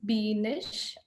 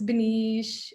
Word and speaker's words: Beenish: And usually people call me B because it's hard time pronouncing my name, Beenish. They either pronounce as Benish or Benish.